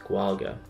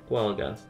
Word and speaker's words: Gaeilge: So the Irish language is sometimes referred to as Gaeilge, pronounced Gwalga. Turns out I'm not even doing that right. Gwalga.